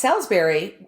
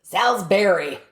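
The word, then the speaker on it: Salisbury: here's an interesting couple of little fun facts Salsberry and it's so funny because the people there pronounce it like it's spelled b r r y Salsberry oh hard on the berry um this is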